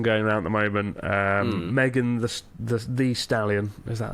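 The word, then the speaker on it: Megan Thee Stallion: Megan the Stallion, is that how you pronounce it?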